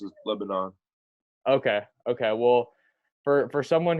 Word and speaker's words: Lebanon: the actual like way it's pronounced is Lebanon.